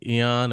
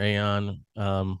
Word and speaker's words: Aeon: Mm, So you can call it Eon or Aeon. We don't yeah, care as long as you use it.